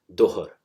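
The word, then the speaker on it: ظهر: For example, the zohar, the noon time, that's actually written with za or zoa, but in pronunciation it will become dohar.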